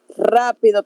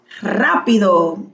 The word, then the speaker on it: rápido: Rápido con acento en la A. Rápido.